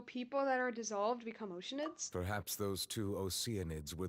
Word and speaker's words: Oceanid: the chance to retrieve you it's oceanid it's pronounced oceanid not oceanids what no it's oceanid were it not for